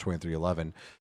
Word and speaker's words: 23XI: If you look at it, it's pronounced 2311, and they have always kind of been, I don't know, kind of a midfield or so team.